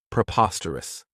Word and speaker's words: preposterous: This adjective has 4 syllables, and the stress is on that second syllable, preposterous. Remember that OS has that schwa, that sound.